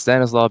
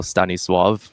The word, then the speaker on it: Stanisław: Yeah, and it's in Polish language, we don't pronounce the L. It's like an L with an accent on the L itself. Right. It's a W sound, so Stanisław would be the correct pronunciation.